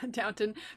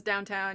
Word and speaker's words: Downton: one let's see what just me mispronouncing the title downton abbey oh yeah downton versus downtown yeah mango fruit punch